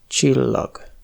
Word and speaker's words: csillag: S se prononce : csillag (étoile). ZS (à ne pas confondre avec SZ) se prononce [ʒ] comme dans le prénom Zsuzsa.